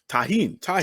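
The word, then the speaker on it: Tajín: How do you pronounce? What is the name of the seasoning? It's Tarjan? What do you call that? tahine.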